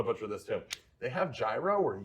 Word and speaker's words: gyro: They have gyro or euro. Nobody yell at me. I don't know what's the right, what's the right way to pronounce it? I think gyro's the right Okay, way.